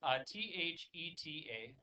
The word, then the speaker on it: theta: It's spelled T-H-E-T-A. Okay. And theta is the Greek letter for T-H. So we have 2 letters to make that sound. They had 1.